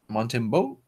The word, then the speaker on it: Montembeault: The goalie for Florida, Montembeault. That's how I believe would be pronounced.